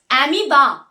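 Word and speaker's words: amoeba: बिगाड़ दिए थे तो अमोए नहीं बेटा वो अमीबा है पर फिर भी स्पेलिंग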